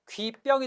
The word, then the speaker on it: 귓병: 귓병 보세요. 귓병. 귀하고 병이 만났습니다. 근데 병은 한자어죠. 근데 실제 발음은 뭐가 되죠? 귀병이 됩니다. 그러니까 사이소리 현상 맞죠?